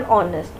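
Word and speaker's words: honest: मैन, ही इज एन ऑनेस्ट मैन। मैंने आपको समझाया था ना इसका मतलब क्यों यहाँ पे एन क्यों आएगा। वैसे तो एच कॉन्सोनेंट है, क्योंकि एच इज साइलेंट, ऑनेस्ट में एच साइलेंट होता है, इसलिए यहाँ पे एन आएगा।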